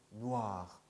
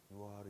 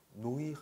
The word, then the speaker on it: noir: 오 더하기 이가 있어요. 그러면 오이라고 발음하고 싶죠. 그런데 오이 하면 안 돼요. 우아, 우아. 그래서 noir, 네. noir. 누아르 있잖아요. 한국말로도 많이 쓰이는 누아르. 이게 누아르예요. 누아르. 누아르. 아시겠죠? 네. 노이르 이런 거 아니에요. 누아르.